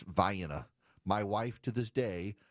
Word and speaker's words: Vienna: Now, here in Georgia, we have Vienna, Georgia, home of the Vienna sausage, except it's Vienna.